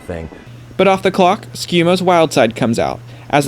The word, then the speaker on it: Schiumo: It's officially pronounced Schiumo, unlike Schiumo as he goes by, and it's Schiumo Jr.